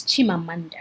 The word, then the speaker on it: Chimamanda: on americanah by Chimamanda Ngozi Adichie yes it's Chimamanda it was in case you know you know to familiar how to pronounce the mean so thank you for watching